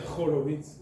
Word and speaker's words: Horowicz: Jorovit está bien pronunciado. depende de qué mundo en Rusia. Jorovitz.